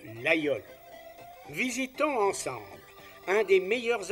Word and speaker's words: Laguiole: du fameux couteau lol lequel en dépit de son orthographe moderne a conservé sa prononciation ancienne et occitane de l'ayol visitons ensemble un des